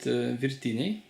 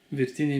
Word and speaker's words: Virtiniai: Good pronunciation. Hello, James. Hi. We're going to make Lithuanian dish. Awesome. We call it Virtiniai. Virtiniai means boiled ones.